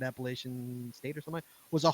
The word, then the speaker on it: Appalachian: fourteen time she's also correcting your pronunciation it's Appalachian I thought she was